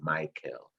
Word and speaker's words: Mikell: your first name and you did indicate it's a michael and um i wanted